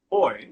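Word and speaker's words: buoy: Boy. Well, in America we say bouy, but boy.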